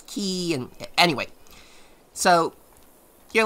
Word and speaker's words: chi: of that i'm i i used to say kai as a kid and then i and i learned it was key and anyway so you're